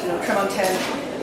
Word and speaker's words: Tremontaine: The Americans always go crazy because they hear me say it, and it's French, and I say it like it's French, Tremontaine, and they're all saying, oh, I feel so stupid.